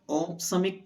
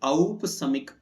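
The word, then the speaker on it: औपशमिक: ओ की मात्रा होने पर औसमिक पढ़ा जाएगा। लेकिन औ की मात्रा होने से औपसमिक ऐसा उच्चारण होता है।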